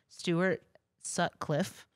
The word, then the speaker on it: Stuart Sutcliffe: member he's actually quoted as the fifth Beatle Stuart Sutcliffe that's how you say it I mean he